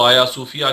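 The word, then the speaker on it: Hagia Sophia: एक बड़ी मस्जिद जिसको आया सूफिया के नाम से आप जानते हैं अगर आप इसको अंग्रेजी में देखेंगे तो यह आयल दाल सोफिया के नाम से आप पढेंगे जी साइलेंट रहता है आया सूफिया के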